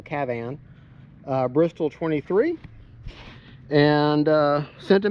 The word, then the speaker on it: Kavan: I was told that or KAVAN, because the A is supposed to be pronounced like cat, so KAVAN.